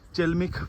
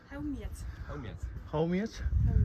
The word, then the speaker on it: Chełmiec: এই যে এটা হচ্ছে চেলমিক পাহাড়, 850 মিটার হাইট। হাউমিয়াচ, ও সরি, এটা প্রোনাউন্স করা হয় হাউমিয়াচ। আমি চেলমিক বললাম, বাট অ্যাকচুয়ালি না, সেটা হাউমিয়াচ নামে প্রোনাউন্স করা হয় পলিস ওয়ার্ড একটা।